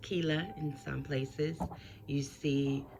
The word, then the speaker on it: Quilla: again this picture of mama cuellar pronounced quila in some places you